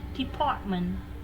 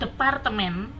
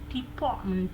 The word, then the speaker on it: department: Misalnya department, bukan departemen, tapi department does James work for.